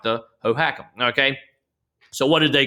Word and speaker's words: Hohokam: Yeah, the Hohokam.